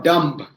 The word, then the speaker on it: dumb: b at the end although the spelling says d u m b when you pronounce is just d u n dumb right these are some of these when i say it is not thumb it is thumb t h u m b becomes thumb b after an m at the end of the word is silent so this is what